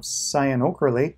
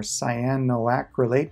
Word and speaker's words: cyanoacrylate: is a type of cyanoacrylate or cyanoacrylate depending what website you look at for how to say this or ca glue